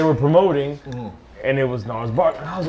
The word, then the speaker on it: Gnarls Barkley: Listen, that G is silent. It's just Gnarls, like. It ain't Janarls. It ain't with a G.